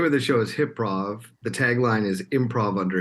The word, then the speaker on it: HYPROV: Edo Center um and the show is called hip prove am I pronouncing that right yeah well done what is hip Prof so the name of the show is hiprov the tagline is improv under hypnosis I'm the